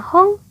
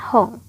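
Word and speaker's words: 本: Yang tetap hanya kanji hong ini aja ya. Di belakang dibacanya hong, di depan pun tetap dibacanya hong.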